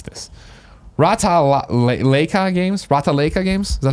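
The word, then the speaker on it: Ratalaika: How do I pronounce this? Rata-Leica Games. Is that how you would say it? Yeah, Rata-Leica.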